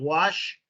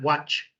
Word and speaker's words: wash: Whenever you say that you want to wash your clothes, it's important to get that sound right. Wash, not watch.